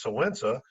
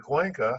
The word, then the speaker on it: Cuenca: We thought it was Sowensa instead of Cuenca, So and Wensa.